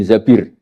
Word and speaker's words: Zabir: Kemudian saya nikah sama Abdurrahman bin Zabir. Di hadis ini bukan bacanya bukan Zubair, tapi Zabir. Abdurrahman bin Zabir.